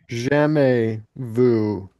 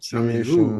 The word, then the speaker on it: jamais vu: I checked, the and the other one, it's deja actually vu, jamais vu. The Thomas AIS vu. jamais vu. Yeah, Okay. because they're French words, so the Jamais vu.